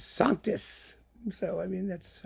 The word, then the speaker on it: Sanctus: The pronunciation, by the way, is French-Latin. Sanctus is sanctus.